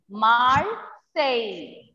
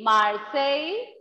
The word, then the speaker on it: Marseille: R will, we will pronounce R as j. R we will pronounce as j. Marseille. Marseille. No, it is not Marseille. It is Marseille. I-L-L-E we will pronounce as A.